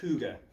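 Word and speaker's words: hygge: I think it I think it's pronounced huga because it's Danish and I don't speak Danish.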